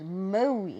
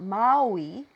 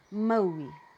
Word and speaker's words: Maui: Now I want you to make sure it goes Maui, not Maui. So you make your mouth a little bit tighter and it sounds like this. Maui.